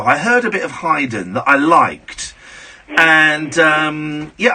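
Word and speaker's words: Haydn: like a little bit of Hyden think that's how it's pronounced so a spear and you're surprised I pronounced it correctly aren't you it's the only one because most people say Hayden well I've got um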